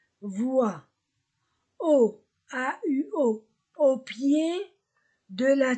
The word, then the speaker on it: voient: La terminaison ENT ne se prononce pas. Voient.